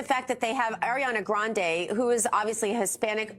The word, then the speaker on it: Grande: is white she's Italian her last name is actually supposed to be pronounced Grande um great job there